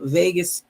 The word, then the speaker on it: vagus: research about these, the vagus. It's not spelled like Vegas, but it's VAGUS, vagus nerves.